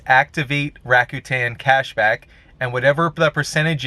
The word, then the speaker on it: Rakuten: ado let's get started number one it's called rakuten if i'm pronouncing that correctly it's r a k u